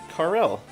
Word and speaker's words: Karel: This gentleman here is Karel, or Carl, some people pronounce it Carl, I guess, I don't know. I choose to say Karel.